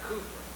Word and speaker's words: Cowper: a great song of William Cowper in England they pronounced that Cooper WPD are we pronounced